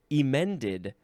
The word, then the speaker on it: emend: To correct, usually by textual alterations, as in emended the manuscript. And I'm emphasizing the E because, well, for one thing, that's how it's pronounced.